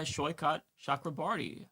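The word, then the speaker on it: Saikat Chakrabarti: He is Shyot Shakrabarti. Uh, Shyot, am I pronouncing your name correctly?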